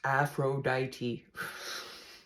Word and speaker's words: Aphrodite: it on it's comfortable and warm about Aphrodite pronounced Aphrodite sorry I had to read it Aphrodite is